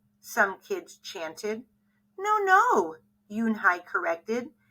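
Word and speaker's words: Unhei: up her face some kids chanted no no Yoon Hai corrected it's spelled u n h e i it's pronounced Yoon Hai oh it's you hey the boy said like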